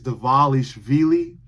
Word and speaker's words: Dvalishvili: UFC, many people within the UFC, still cannot pronounce this guy's name right. It is Dvalishvili.